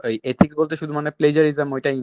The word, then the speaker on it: plagiarism: এটা pronunciation actually British হোক অথবা আমেরিকান হোক, এটা হচ্ছে প্লেজারিজম, ঠিক আছে? অনেকে প্লেগারিজম ইউজ করে, এটা রং, ঠিক আছে? Don't do that.